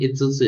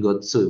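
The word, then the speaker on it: 五つ: Ini Itsutsu ya, bukan Gotsu bacanya lukisan ya.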